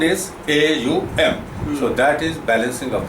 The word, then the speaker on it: Aum: So there is a one universal sound in the cosmos, which is AUM. I will pronounce it.